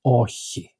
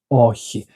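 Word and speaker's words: όχι: This is a very common sound in Greek. You have it also in echo or echi which means to have. He has, she has. And so you will find this a lot in Greek and you should learn how to make this sound.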